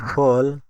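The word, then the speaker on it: full: তাই উচ্চারণ পুট। উদাহরণ পি ওটি পুট এফ U double L ফুল।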